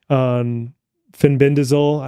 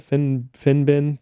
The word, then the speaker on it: fenbendazole: For example, Mel Gibson was just on Joe Rogan Experience lately talking about fenbendazole. How do you pronounce that? Fenbendazole?